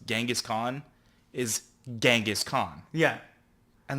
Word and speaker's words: Genghis Khan: So it's somewhere between a soft G and a CH. So it's a Genghis Yeah. Genghis Khan. Khan. Genghis Khan. So like start with the G and end with the CH.